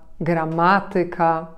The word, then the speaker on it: gramatyka: będą ciekawsze w odbiorze a mianowicie niektóre słowa przede wszystkim zakończone na ik ik te słowa które są obcego pochodzenia takie jak matematyka muzyka gramatyka akcentujemy właśnie nad trzecią sylabę od końca powiecie to obce słowa